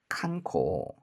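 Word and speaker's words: 観光: 그래서 관은 그냥 칸 그러면 되는데 광은 이게 이응을 발음하는게 아니라 장음이 되니까 코 뭐 그렇게 발음을 하면 좋을 거 같아요. 맞네요. 그렇죠? 칸코 칸코 이게 바로 관광입니다.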